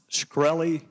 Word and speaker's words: Shkreli: Is it pronounced Shkreli?